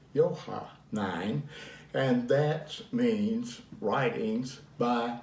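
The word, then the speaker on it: Johannine: n j-o-h-a-n-n i n e uh and it's pronounced yohan nine yohah nine and that means writings by john now i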